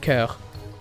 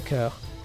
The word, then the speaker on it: cœur: It's just cœur. Curl. It's a cœur. Because O is just silent, and the EUR is one sound, so which is So the C is like a K for in your brain.